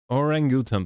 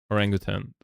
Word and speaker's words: orangutan: The emphasis on the second syllable of or orangutan by the way or orangutan. Oh yeah, right. Orangutan, thank you. Uh, that's still wrong, but I It was It's more like that.